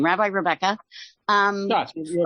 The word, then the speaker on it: Schatz: Schatz, you're correct.